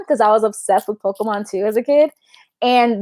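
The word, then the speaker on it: Pokémon: Moon and Pokemon because I was obsessed with Pokemon too as a kid. And the only Pokemon she knew was Pikachu. So every Pokemon was Pikachu, and she didn't pronounce it Pokemon. She said Pokemans.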